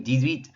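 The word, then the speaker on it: dix-huit: You'll notice there in the middle, you're hearing a little bit of a Z sound. That's because of the X. Since the H is silent, we're making a connection, it's called une liaison, with that X by making a Z sound, so 18.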